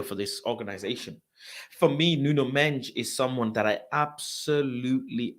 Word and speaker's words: Nuno Mendes: Nuno Mendes, but his actual pronunciation is Nuno Mendes, like Bruno Fernandes.